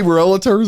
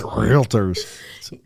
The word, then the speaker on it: realtors: so no one knows i say relatives and i'm like it's realtors too many syllables in there they're the only ones